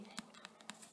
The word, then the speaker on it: Gaiman: Yes, that's how you say it, Gaiman.